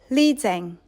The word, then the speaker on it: liyang: Lidzeng, Lidzeng, Lidzeng, Lidzeng.